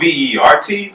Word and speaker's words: Vertcoin: What I like about Vertcoin, and it's spelled V-E-R-T, but in the sense of the T is silent because Ver is the French word for green.